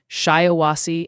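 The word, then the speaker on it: Shiawassee: Hey Ryan, a lot of people in chat are trying to help you out with the pronunciation of shyawasi andiggo. They're saying it's pronounced shyawasi and I think I nailed that already.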